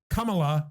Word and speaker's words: Kamala: Kamala Harris, which is weird that, not shitting on her name, it's a cool name, but I guess the pronunciation is Kamala Harris. Yeah, not Kamala. I'm used to Kamala.